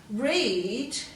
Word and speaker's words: read: could go to eight read is a tricky one because it's a long e sound and it just changes to the short x sound for the ea so read becomes red so just be careful